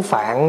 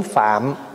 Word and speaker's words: Phạm: gọn lại là tiếng Phạn đó mình nói tiếng Phạn đó chứ nếu mà nó phát âm cho đúng Phải nói là tiếng phạm tại tiếng phạm là